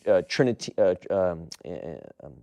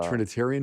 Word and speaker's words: Trinitarian: My uncle was had baptized me in Trinitine. I'm saying it wrong. The Trinitarian formula? Yes, that's right.